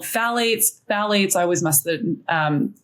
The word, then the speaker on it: phthalates: There's also something called phthalates. Phthalates, I always mess the pronunciation of that.